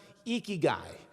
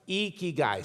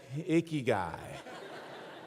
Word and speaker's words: ikigai: pronounce it it's pronounced ikigai you lift your cheeks like you're smiling it's ikigai say it with me iki guy you got it that's